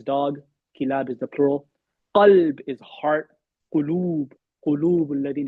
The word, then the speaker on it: قلب: How do you say heart in Arabic? Qalb. Right? It's a qaf.